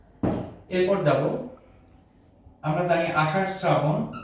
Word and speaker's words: শ্রাবণ: আর অভিভাবকদের জন্য আমার প্রশ্ন হলো যে এটি কেন শ্রাবণ হচ্ছে উচ্চারণ। আমরা জানি বাংলা ভাষায় কিছু নিয়ম আছে, ত, র, ল, ন এবং থ। এই কয়টি বর্ণ যদি স এর সাথে যুক্ত থাকে তাহলে এস এর মতো উচ্চারণ হয়। এই কয়টি বর্ণ যদি স এর সাথে কখনো যুক্ত থাকে তাহলে এস এর মতো উচ্চারণ হবে। যেমন স এর সাথে র ফলা যুক্ত হয়েছে, এজন্য এস এর মতো উচ্চারণ হয়েছে।